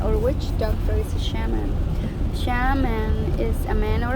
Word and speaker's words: shaman: Thanks for sticking around for Chapter 2, the Shamanic Journey Introduction. The shaman, pronounced Shaman, is a word from the language